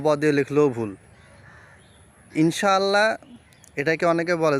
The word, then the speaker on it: ইনশাআল্লাহ: থাকে তাহলে কি হবে ইখফা গুন্না করতে হবে গুন্না হচ্ছে নুনটাকে লুকিয়ে পড়তে হবে তো ইনশা আল্লাহ এটাকে বিশুদ্ধ ভাবে গুণনা করে পড়লে হবে ইনশাআল্লাহ ইনশা এইভাবে ইনশা এভাবে